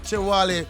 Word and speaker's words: Chewalee: Chewalee.